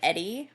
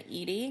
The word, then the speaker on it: Eddie: So she was born Edna Mae Taylor, which is why I think her name is said like Eddie rather than Edie, because it's Edna.